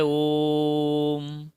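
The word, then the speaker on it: ॐ: जाएगी और मा होगा इसका उच्चारण होता है ओम अर्थात ओ को इसके हरस की अपेक्षा तीन गुना देर तक बोलिए ओम तब हुआ ये ओम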